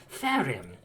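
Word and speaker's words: Phaerimm: a pronounced um uh it's spelled p h a e r i m m therim and i'll spell that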